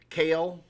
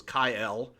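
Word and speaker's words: Kael: Kale, which Polarium mispronounces as Kyle.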